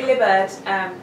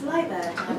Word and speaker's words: Liburd: Well, lots of people say Liburd because of the way it's spelled, but it's actually, yes, it's Liburd.